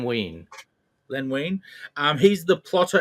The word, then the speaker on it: Wein: And but Len Wein, is it pronounced Wein? Yeah, I'm pretty sure it's Len Wein.